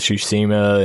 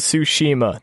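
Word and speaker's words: Tsushima: psyched about like ghost of suima and uh I can never pronounce that right ghost of sushima there I got it um and like cyber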